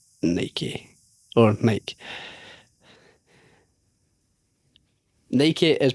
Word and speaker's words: Nike: do you pronounce Nike or Nike? Nike is pronounced Nike, so like double E Nike. rhymes with spiky.